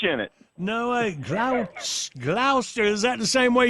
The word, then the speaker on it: Gloucester: Glouster. There's no H in it. No way. Glouster. Is that the same way you pronounce the main one up there?